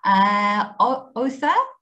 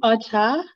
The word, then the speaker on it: Otha: Otha, what do you think? Do you think it's also times 2? No, it's actually pronounced otter.